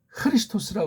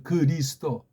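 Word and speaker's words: Χριστός: 흐자가 안 되면 아주 부드러운 히읗 소리가 담긴 크를 하면 돼요. 크리스토스. 그렇게 해야 될 것 아닙니까? 크리스토스. 뒤에 오스는 꼬랑지려서 뭐 혹시 몸뚱아리만 발음 안 되면 크리스트. 그렇게 해야 되잖아요. 그리스도가 뭡니까? 일본 소리예요, 완전히 그거.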